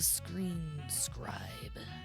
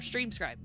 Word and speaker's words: Stream Scribe: the wisdom of the Screen Scribe. Or Stream Scribe. I always say his name wrong because it's like a scribe.